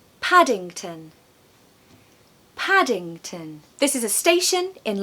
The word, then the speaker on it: Paddington: Paddington.